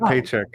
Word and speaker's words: Chapek: No, you said it right. I said paycheck.